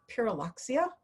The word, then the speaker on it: Pyrrhuloxia: And I'll say Pyrrhuloxia, and I get them to say it, and so they learn something. And then I show them in the field guide the difference between a Pyrrhuloxia and a cardinal, and the field guide marks